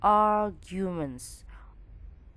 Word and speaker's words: arguments: Remember that every we meet R or R, the letter R, we have to pronounce less of R. Kurang dari R. Voiceless. Tipis banget, hampir nggak ada. R, arguments, arguments, arguments, arguments. Little bit mix between G and J.